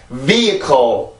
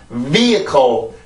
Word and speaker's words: vehicle: vehicle 다시 한번 vehicle 자, 이렇게 해서 발음이 되는데 자, 이 발음은요, 여기로 H 발음이 들어간 경우도 있고, 요 발음을 요렇게 쓰는 경우도 있어요.